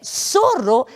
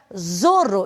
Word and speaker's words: zorro: que elaa bom gente essa consoante nós não temos o som para o z sendo assim é a sonoridade do S então a palavra que aparece ao lado é sorro onde eu não posso pronunciar Zorro e sim sorro sorro significa raposa rap